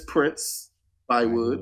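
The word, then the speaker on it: Prince-Bythewood: Miss Prince Bywood.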